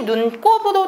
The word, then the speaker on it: 눈곱: 같은 경우도 은근히 헷갈리는데요 예 발음이 눈꼽도 되기는 하는데요 얘는 합성어 눈이라는 단어와 곱이란 단어가 합쳐진 단어예요 그래서 어원을 살려서 눈곱이라고 쓰셔야 됩니다 이런 거 비슷한게 우리가